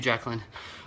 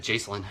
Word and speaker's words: Jacqueline: Thank you, Jacqueline. I pronounced it, I think I said Jacelyn or something.